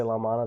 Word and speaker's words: Lao Man'E: my ear i hear them say la la mana but sometimes when i say la mana they don't know what i'm that don't know what i'm talking about but that's the that's the closest pronunciation that that i can replicate l-a-o-m-a-n-e it's just lao means old so it's mana like old old mana old mana village um and there's actually